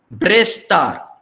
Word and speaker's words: Brestar: Standard pronunciation, to Brestar. Different people will say differently. Dialectal pronunciation. But to Brestar, to Sukrar.